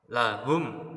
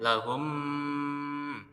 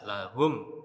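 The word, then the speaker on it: لهم: Cara membacanya dengan jelas dan tegas. Ya, contoh lahum ajrun. Lahum. Ketika lafaz itu lafaz diucapkan di mim, itu mimnya harus jelas, harus tegas. Lahum nya harus jelas. Tidak boleh lahum, nggak boleh ya. Tidak boleh membaca kayak gitu. Harus jelas lahum aj.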